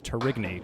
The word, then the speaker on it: Tourigny: I thought it was Tourigny for the longest time. It is Tourigny, confirmed. JJ opens up with a 6th drop, leaving the 4 horsemen left side.